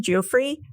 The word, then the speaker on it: Giuffre: How do you pronounce her last name? Giuffre, who the Epstein Islands, right?